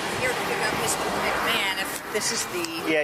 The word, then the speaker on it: McMahon: McMullen? McMahon. McMahon, even though it's spelled Yeah, it's McMahon.